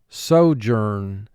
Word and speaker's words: sojourn: the next word is sojourn sojourn a sojourn is a temporary stay at a place so journ two syllables first syllable so two sounds s o journ three sounds j er n so journ mark the